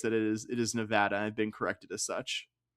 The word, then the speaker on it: Nevada: It It is Nevada. I've been told emphatically by that eventually by locals here in my in my home for the last six years of Vegas that it is it is Nevada have been corrected as such.